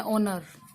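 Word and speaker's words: honour: जैसे हार्मनी को बोलते हैं ऑर्मनी, होनर को बोलते हैं ओनर, ठीक है।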